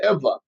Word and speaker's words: Ewa: is interesting because Eva which would be Eva is actually spell Ewa but they pronounce it Eva I don't know I